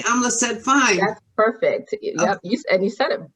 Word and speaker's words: Amleset: I can say Amla said fine. That's perfect. Yep. You said it. You said it with the right pronunciation.